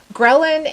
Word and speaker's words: ghrelin: I think Ghrelin. Yeah, I'm pretty sure Ghrelin's the right way to say it. All right. Ghrelin is the hormone that tells you it's time to eat.